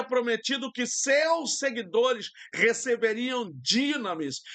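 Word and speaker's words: δύναμις: Jesus havia prometido que seus seguidores receberiam dinamis. Muita gente fala dunamis, mas é dinamis.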